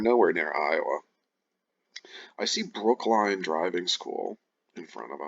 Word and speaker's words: Brookline: Don't think it's pronounced Brooklyn, I think it's Brookline.